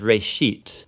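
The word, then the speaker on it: בראשית: it's called Genesis Genesis comes from a Hebrew word it's pronounced race sheet and it just means beginning now there's a lot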